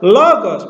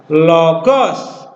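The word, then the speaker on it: λόγος: Kalau logos itu biasanya diucapkan logos, bukan logos.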